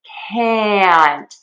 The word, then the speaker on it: can't: So, to fix this mistake, we are not going to keep that closed mouth for that sound. It's not going to be relaxed and open. It is going to be tenser and wider. Can't and count.